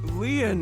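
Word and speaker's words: Lien: My name, Leon, is spelled L-I-E-N.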